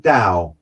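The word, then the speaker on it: Tao: um but he talked dao which is spelt t-a-o the t is silent and and the dao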